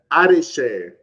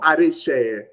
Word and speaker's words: Adeseye: Yeah, Adeseye or Adeseye. So the first part is Ade. So the two words combined together.